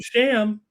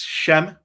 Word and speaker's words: Shem: Don't call me Sham. Sham the Scam Rock. It's Shem. No, we're calling him Sham. The E is pronounced as an A in Ireland, Jeff.